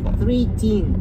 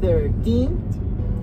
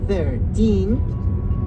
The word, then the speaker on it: thirteen: y el número 15 en lugar de decir three teen y fen la pronunciación correcta del número 13 es thirteen thirteen y el número 15 Fifteen Fifteen escucha y